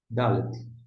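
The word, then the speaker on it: דלת: Agora, a próxima palavra aqui, ó, Dalet. Dalet começa com D. Se começa com D, corresponde ao nosso D de dado.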